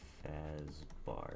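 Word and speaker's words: Fazbär: name is friedrick fazar which is spelled b a with the uml R so it's like fazbar if that's what you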